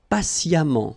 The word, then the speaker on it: patiemment: Patient, and then patiemment. So as I told you, even if you write it EMMENT, phonetically it goes like amant, patiemment.